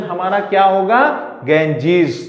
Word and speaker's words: Ganges: तो इसलिए प्रोनाउंसिएशन हमारा क्या होगा, गेंजीज। The English pronunciation of गंगा इज अ गेंजीज।